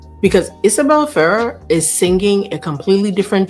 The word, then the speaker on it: Isabela Ferrer: I I I I look, I learned how to say this girl's name, Isabella Farah.